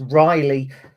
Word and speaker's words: Ryley: So it's Ryley, but it's spelt a little bit odd with a Y, Ryley Towler.